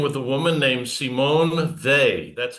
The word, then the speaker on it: Weil: We're dealing with a woman named Simone they.